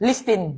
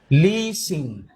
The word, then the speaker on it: listen: Listin. Sus. Silent T nga ni. Silent T. Listen. Listen. Hindi listin, ha? Basa. Listen. Okay.